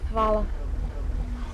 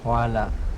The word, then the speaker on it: hvala: Hvala. Hvala.